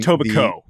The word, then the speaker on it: Etobicoke: From Etobicoke, silent K.